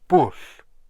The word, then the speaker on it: bwll: Dro is just dro, and bush, like push, but this is bush with a double L at the end.